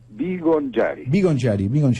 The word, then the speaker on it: Bigongiari: ¿Cómo se pronuncia? Vivonchiari, bien italiano.